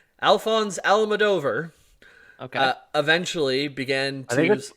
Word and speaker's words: Alphonse Almodovar: Almodovar that's his name Alphonse Al madover okay eventually began I think I think it's pronounced alfonsi alfonsi al-mador up in the